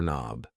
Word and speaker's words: knob: A door knob. Yes. The K and knob is silent.